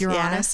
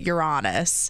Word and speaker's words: Uranus: with I don't know everyone pronounces it differently Uranus you're honest you're honest your ass okay the professionals say it you're honest yeah some people call it Uranus but that doesn't sound very nice I know that's I